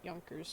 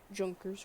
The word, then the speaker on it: Junkers: i pronounce the yankees wrong i just like pronouncing it yonkers instead of junkers or whatever i also have the poorly made